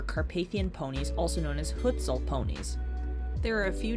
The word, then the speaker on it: Hucul: The only horses available to ride were Carpathian ponies, also known as Hucul ponies. There are a few different ways to pronounce their name, but this is the way I know it.